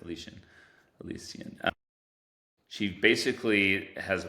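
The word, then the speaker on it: Elyasian: E L Y A S I A N. Alician. Alician. That's it. Alician Alician she basically has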